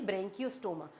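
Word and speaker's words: Branchiostoma: उसके बाद लास्ट आ जाता है हमारे पास एग्जांपल और एग्जांपल है यहां पे एक ही वो है ब्रेंकियो स्टोमा। ब्रेंकियो स्टोमा। बोलो इसको ब्रेंकियो स्टोमा। आपको प्रोनाउंस भी करना आना चाहिए कि ब्रेंकियोस्टोमा है यह।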